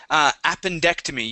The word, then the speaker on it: appendectomy: Let's go to the word appendectomy. You were very close. The pronunciation was good. The stress was just a little off.